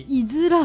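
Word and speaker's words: 五浦: イズラ、はい、これイズラって読むんですね。そうです、はい、5 に裏って書いて、はい、イズラ、そうです、5 裏って読んでしまうんですが、イズラ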